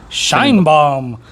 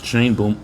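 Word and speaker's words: Sheinbaum: the election of Claudia shine bomb shine bomb is not a traditionally Mexican name what it's not no it's cuz you're pronouncing in English it's Shain boom Shane bom that's also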